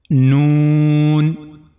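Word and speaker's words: ن: The first letter we have in this lesson is noon.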